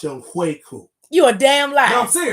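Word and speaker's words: Younghoe: It's pronounced Young Hui. That's how it's pronounced. That say Young Ho. I know it says Young Ho, but it's actually pronounced Young Hui.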